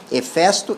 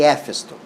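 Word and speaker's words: Hefesto: na na vida bom Aqui tem duas pronúncias que dizem que é correto efesto e efesto né os homens que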